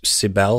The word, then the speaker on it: Cybele: 1200 BC, they were used to accompany a ritual to serve a goddess, Cybele, I believe it's pronounced, C-Y-B-E-L-E.